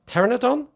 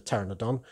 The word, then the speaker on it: pteranodon: to get it right terenadon is that what it's called i think it's called the pteranodon um silent p yeah obvious joke there um